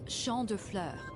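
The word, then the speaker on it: Champs de Fleurs: imagine Champs de floors how do you say that it's Shand FL it means Field of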